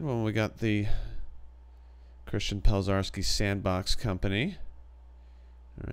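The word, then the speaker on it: Pelczarski: Yeah, it's Pelzarski, if you want to know how to pronounce my last name.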